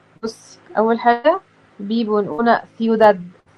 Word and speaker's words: ciudad: بص، اول حاجة بيبو نقولنا سيوداد. مش احنا قلنا ان السي بعديها اي او اي تبقى بتنطق ساء، فسيوداد.